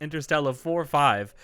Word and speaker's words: Interstella 5555: memories of for many years now and that's interstellar four five which i recently learned is how you're supposed to say it i've always been pronouncing it interstellar 5555.